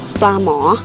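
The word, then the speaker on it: ปลาหมอ: In Thai we pronounce pla mo.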